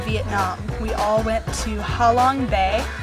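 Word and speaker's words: Hạ Long Bay: we all went to halong Bay it's pronounced hi by not to see the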